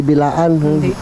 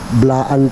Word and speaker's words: Blaan: mo blaan bla ah blaan palang pronounce ano blaan hindi bilaan blaan pala yon Mga ks k